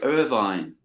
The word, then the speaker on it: Irvine: Or like posh people, Irvine. But no, Irvin. It's Irving, yeah. So, Yeah, you did it perfectly. That's great. Yeah. right. So, what was Irving like when you were growing up?